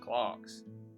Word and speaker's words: Clerks: the convenience store it's pronounced clocks weird that it's weird